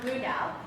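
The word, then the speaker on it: Blu3 DAO: blue white white three b l u three uh pronounced blue dao it's the three stands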